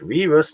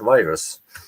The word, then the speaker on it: V/RUS: And yes, we decided to pronounce it RUS, not virus.